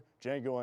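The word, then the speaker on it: Django: with Quenton Tarantino's Blockbuster D Jango Unchained the D is silent the movie will be showing this Thursdays and Fridays at 8:00 p.m.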